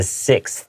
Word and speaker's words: sixth: And the pronunciation of 6th grade, the 6th is a little bit difficult for a lot of people to pronounce. First say 6, okay? And then add a th at the end.